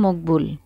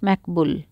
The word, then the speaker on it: মকবুল: আনোভা স্যার আমার নাম মকবুল আমেরিকানরা মকবুল বলতে পারে না তারা ডাকে ম্যাক কেউ কেউ ডাকে ম্যাকবুল শুরুর দিকে আপত্তি করতাম বলতাম ম্যাকবুলের চেয়ে মকবুল উচ্চারণ অনেক সহজ খামোখা কঠিন নামে কেন ডাকো শেষের দিকে এসব